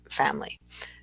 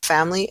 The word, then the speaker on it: family: So in this word, we don't typically say the I in family. So it turns into a 2-syllable word rather than a 3-syllable word. So we have family as opposed to family.